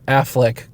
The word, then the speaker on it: Affleck: Affleck.